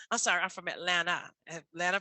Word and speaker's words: Atlanta: sorry I'm from Atlanta Atlanta people say she's not from Atlanta pronouncing that T at the end um but uh my